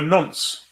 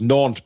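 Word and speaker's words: Nantes: It's pronounced na, Billy. That's what I said. You said the s. You don't mention the s. It's a silent s.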